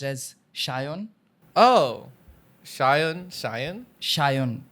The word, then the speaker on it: Sayan: a y n but it's supposed to be pronounced as Shon in my mother tongue it's pronounced as shyon oh Shion Shion Shion h a y o